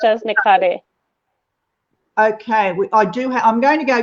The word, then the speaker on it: Nikhare: So the last name is pronounced as Nikhare.